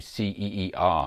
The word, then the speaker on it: Ceer: EV Drive systems to ceer in Saudi Arabia probably pronounced C the South Korean company